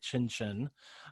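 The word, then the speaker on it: Xinxin: um ellen i think she actually wanted to go by chinchin um like the restaurant well it's like x-i-n-x-i-n oh okay yeah i think i think that's how you pronounce it um but we you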